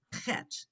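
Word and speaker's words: חית: not always easy, but the CH is the sound, or the H with the dot, it's the ch. It's a guttural sound. So it's chet. And we're going over this again, as he says, a letter revisited, because chet is in a lot of words. And so it's that ch, that guttural ch sound.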